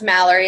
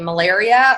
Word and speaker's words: Mallory: Hi, it is pronounced Mallory. It's spelled very unique. I know, I love it. No, everybody either calls me Malaria or Malari.